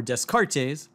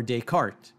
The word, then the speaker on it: Descartes: If I were to say uler, fermat, libnets or descartes, someone would rightly correct me and say that the pronunciations should be more like oiler, ferma, linen or decart.